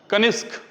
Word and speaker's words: कनिष्क: कनिष्क अच्छा य देखिए जब कनिष्क का उच्चारण करेंगे ना तो यहां भी जो है ना स और क के तरह उच्चारण होता है कनिष्क अंतिम में स और